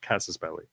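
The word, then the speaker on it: casus belli: war cause of War casses it's actually right casses belly it's the correct pronunciation so yeah yeah you can't have that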